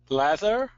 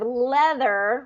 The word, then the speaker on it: leather: on both of them so instead of leather with a short e e here I'm hearing a with an a a vowel okay so those are the two that's the difference between them so Le kind of like let let get set leather